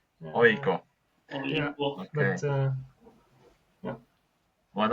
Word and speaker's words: AIK: I would say we say AIK. It's like it's like 3 letters. You say them separately. AIK.